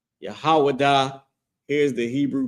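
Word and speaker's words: יהודה: And that name in Hebrew is it's pronounced Yahawadah. Yahawadah.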